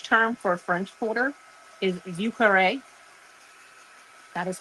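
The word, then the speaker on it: Vieux Carré: Um, the French term for French Quarter is ukare. That is how that is pronounced.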